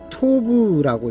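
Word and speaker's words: טוב: 선이라는 히브리어는 토브라고 있습니다. 토브 이렇게 있습니다. 오른쪽에서 왼쪽으로 이렇게 읽습니다. 토브. 그 다음에 악은 라라고 읽습니다.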